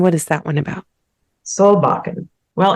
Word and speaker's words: Solbakken: And I'm not sure, how do you pronounce the name of that one? It's Solbakken. Okay. Which is a Norwegian name. And what is that one about? Solbakken.